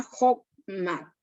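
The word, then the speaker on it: Chokhmah: consejo, y también llamada la sabiduría Jochma. Se las voy a deletrear para que la puedan apuntar los que están tomando apuntes. Sabiduría Jochma. Se escribe H-O-K-M-A-H.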